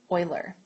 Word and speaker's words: Euler: So, what's really cool now is way way back ago, there was a man named Leonard Oiler, and his name is spelled like this.